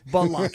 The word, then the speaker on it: Blake: But not Blake. Okay, no, I got you. It's Balake. It's like 2 syllables.